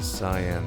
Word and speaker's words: cyan: Phi went to the yellow door, and Kay took the cyan door.